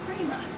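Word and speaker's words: κρίμα: As I was doing my word study, I found that the original word in Greek is 29:17, and it's krima. It's very similar to our English word criminal.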